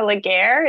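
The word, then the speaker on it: Ligare: my name is legare it's spelled so you got my first name right like air l-i-g-a-r-e and I'm the plastic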